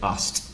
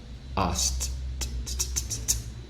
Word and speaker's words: asked: yet no no watched ask is it ask or asked the second one right what about this one